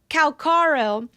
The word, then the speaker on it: Calaro: to take him out calaro calaro oh my gosh I always say his name wrong it's yeah it's calaro he actually took fate into